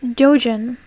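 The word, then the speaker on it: doujin: It's pronounced Dojin, also called Otoke in Japan, is a subcategory of Jojin activity.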